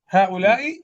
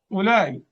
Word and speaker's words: هؤلاء: هؤلاء يعني المفروض أن تكون هكذا، هؤلاء، لكن في النطق تكون هكذا، هؤلاء، يبقى هنا ألف.